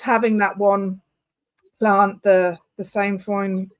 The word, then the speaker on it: sainfoin: How do people move forward if, so just having that one plant, the sainfoin, how do you say it?